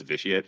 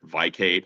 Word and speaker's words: Vicate: The way that you're supposed to pronounce, not supposed to, but the way that I envisioned it pronounced was vitiate. I've heard Vicate.